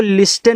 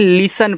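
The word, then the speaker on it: listen: तो यहां देखो इसको लिस्टन नहीं पढ़ते हैं। लिसन पढ़ते हैं।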